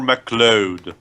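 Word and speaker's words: MacLeod: Okay, Yeah, so basically you're pronouncing it wrong, Dweebs. It's Connor McLeod.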